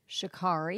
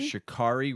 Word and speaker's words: Sha'Carri: and the article was American Sprinter can you pronounce her name for me one more time Shakari Shakari Richardson test positive for cannabis Olympic hopes and